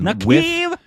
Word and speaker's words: Naqaab: I like the first pronunciation. Naqaab. With the force in the second half.